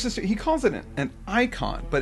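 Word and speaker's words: eikon: and it's did you it's an Antiquated spelling of Icon okay so it's pronounced the same way even it's just spelled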